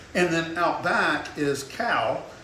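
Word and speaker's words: Kau: And then out back is Cow. It's spelled K-A-U.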